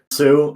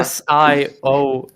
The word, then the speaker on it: Sioux: you guys learned, and probably the foreigner just Sayu. learned. So There's isn't there like still the Sayu, whatever The the Sioux. Republic? Sue, the Sayu. Well, oh, it's yeah. SIOUX.